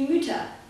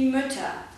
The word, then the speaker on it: Mütter: die Mütter gesund gesünder achtet hier genau auf die Aussprache u und ü werden nicht u und ü ausgesprochen ich mache es einmal falsch die Mutter die myüter die Laute werden eher wie o und ö gesprochen aber kurz die Mutter die Mütter gesund gesünder und jetzt kommen wir